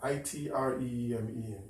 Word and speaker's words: yttrium: wide from neutral noise correct pronunciation is Itre it's really something my time